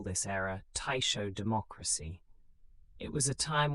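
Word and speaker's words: Taishō: The Taiisho period pronounced guisho spanning from 1912 to 1926 brought a brief flowering of democratic politics and cultural experimentation.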